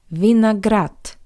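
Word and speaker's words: виноград: How you could hear the voiced consonant d at the end of this word also sounds like the paired voiceless consonant t. Vineagrat.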